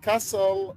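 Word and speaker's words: castle: لا، عندنا ذن الكلمات شواذ اللي هي كاسل ورسل، لأن أيضا حرف التي لا يلفظ.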